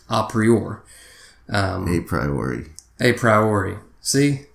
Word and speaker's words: a priori: And there's something called a prior, or it's actually pronounced a priori.